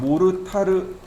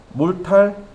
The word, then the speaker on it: 몰탈: 우리 옆 나라가 받침이 없어요. 몰탈 발음이 안 돼요. 그래서 모르타르 이렇게 발음하는 겁니다. 그게 고스란히 우리나라로 들어온 거죠. 그래서 우리나라도 모르타르라고 이야기하는 겁니다.